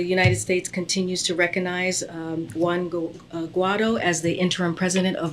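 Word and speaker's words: Juan Guaidó: You didn't even say his name right, Juan Guaido.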